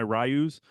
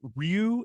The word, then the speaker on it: Ryu: all of a sudden they're like no it's actually Ryu and I'm like what